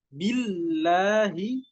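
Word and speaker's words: بالله: Jadi nggak bisa billahi, bacanya biasa billahi itu nggak bisa, tapi harus ditekan.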